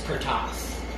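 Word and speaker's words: Curtiz: novel by ss van dyne directed by michael cortez is how it's pronounced i found out it's cortas all right um because he's hungarian even though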